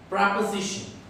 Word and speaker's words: preposition: We always pronounce it as pre.